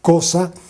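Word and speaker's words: Xhosa: Él era de una etnia que se llama cosa, se escribe X H O.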